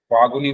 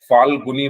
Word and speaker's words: फाल्गुनी: भी last class में, फागुनी बोलते, अच्छा तो एल साइलेंट होता है ना इसमें, ठीक है, एल भी बोलना होता है। चलो समझ जाओ, अब जो भी मैंने बोला आपका ही नाम लिया है। ठीक है, फाल्गुनी बोलना है मुझे।